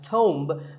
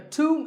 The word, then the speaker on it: tomb: similar-sounding word is tuned it's often wrongly pronounced as tome but the bee is silent and the O is pronounced with an O sound so to a tomb is a place like